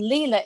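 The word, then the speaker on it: Lila: And Leela is spelled L I L A.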